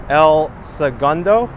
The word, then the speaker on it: El Segundo: segundo apparently is pronounced el segundo according to the natives here which i find very interesting like they don't use the spanish pronunciations but in spanish it's